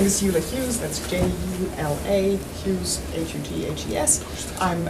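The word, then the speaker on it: Jula Hughes: My name is Eula Hughes.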